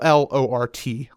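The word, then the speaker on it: Llort: So um and it's spelled L L O R T. Lort.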